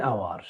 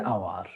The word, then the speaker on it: hour: A house, but a hour, an hour, an hour. The S at the beginning of hour is silent.